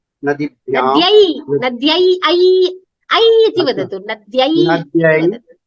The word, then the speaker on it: नद्यै: चतुर्थी विभक्त्यां वदतु एकवचनरूपं द्विवचनरूपं बहुवचनरूपं वदतु नदी नद्ये नद्ये नास्ति उच्चारणे दोषः अस्ति महोदय अच्छा नद्ये नद्ये नास्ति नद्यै अस्ति ऐकारस्य उच्चारणं संस्कृतभाषायां स्पष्टतया करणीयम् नद्यै तदनन्तरं नदीभ्यः नद्यै नदीभ्यां नदीभ्यः.